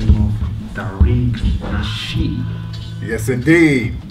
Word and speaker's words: Tariq Nasheed: We got a special guest, and he goes by the name of Tariq Nasheed. Yes, indeed. Am I pronouncing the name right? Yes, sir. You are definitely pronouncing it right.